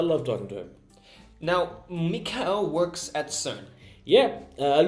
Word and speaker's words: Michael: Mikhail is spelled like Michael, except you're saying Mikhail, not Michael. Tell me Yes. about that. Because he's German, and in Germany, in German language, Michael is pronounced as Mikhail.